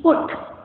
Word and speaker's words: put: Suppose in English we write P-U-T, put, and we pronounce it as put, correct? But now, when teacher is telling me to write B-U-T, and now she is saying it is but.